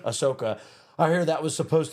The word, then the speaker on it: Ahsoka: But I hear like Akasha, I'm getting the name wrong. Ahsoka.